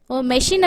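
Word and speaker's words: machine: தப்பு தப்பா சொல்ல முடியாதுல்ல இப்ப மெஷின் அப்படிங்கற இடத்துல நம்ம மெச்சின் அப்படின்னு சொல்ல முடியாது. சோ மெச்சின் அப்படின்னா அது என்ன வேர்ட் அப்படின்ற மாதிரி இருக்கும். மெஷின் அப்படின்னாதான் அது கரெக்டா இருக்கும்.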